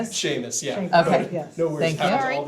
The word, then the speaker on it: Seamus: Uh, just to clarify, pronouncing your first name, Sheamus. Sheamus.